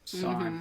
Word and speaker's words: San: San, right? San, Is that how you yes.